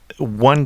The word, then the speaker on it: Antibes: and L and so the S which is appearing at the end of on is not pronounced I hope that helps